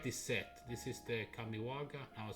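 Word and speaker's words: Kamigawa: This is the Kamiwaga. I was saying it wrong. Kamiwaga.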